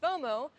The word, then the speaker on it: FOMO: of missing out and when you pronounce fomo you pronounce it as a word itself and BTW by the